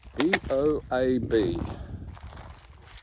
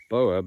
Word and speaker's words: boab: B-O-A-B. Am I pronouncing it right for the Americans?